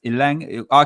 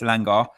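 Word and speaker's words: Elanga: Also with it, they were saying with Ilang, I could say his name all the time and everyone get upset with me when I say Ilangi. I say Ilangi, but it's Ilanga.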